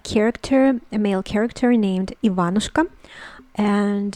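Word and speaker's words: Иван: know it it is ivan ivan ivan the uh intonation the um stresses on the second syllable on the vowel um ivan and and there we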